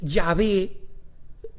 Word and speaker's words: Yahvé: E, y de ahí es donde viene el Yahvé, y es la razón por la cual la Iglesia Católica recomienda que en realidad en las Biblias, donde dice el Yahvé, se diga el Señor, y las nuevas traducciones